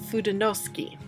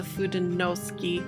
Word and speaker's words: Fudenosuke: This is the pens I'm talking about right here, and I believe the way you pronounce this name right here is Fudenosuke.